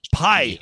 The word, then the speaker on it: Pai: you got right uh last name is pai pai i was right the first time and i